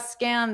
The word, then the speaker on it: scammed: So notice that pronunciation, scammed. So maybe it wasn't the easiest to hear that ED because it's just a soft D.